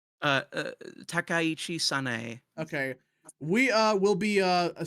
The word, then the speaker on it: Takaichi Sanae: Takaichi Sanae.